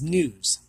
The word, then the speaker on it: gnu: wildebeest otherwise known as news there it's actually spelled gnu but it's pronounced new the g is silent otherwise known as wildebeest